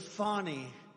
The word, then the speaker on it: Fani: have been destroyed because of fonnie f a n i fny you have to pronounce it fonny it's called Fanny you have to pronounced fonnie I don't know how